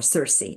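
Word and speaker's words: Circe: signif significator and kir of course is or Cersei actually it's pronounced Cersei in English is the uh the um um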